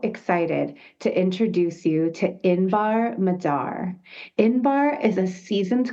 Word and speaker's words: Inbar: am so so excited to introduce you to inbar Madar inbar is a seasoned consultant with over a decade of leadership and business strategy experience with a profound dedication to empowerment education and strategic guidance inbar strives to redefine the landscape of Entrepreneurship she